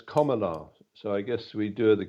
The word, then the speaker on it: Kamala: how it's pronounced, and it's pronounced like that item of grammar, a comma, so it's Kamala.